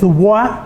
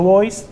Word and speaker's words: Du Bois: Du boys se escribe con me larga, es du bois porque es una especie de francés, pero bueno, como él era norteamericano, le dicen boys, vamos a respetar, ¿no?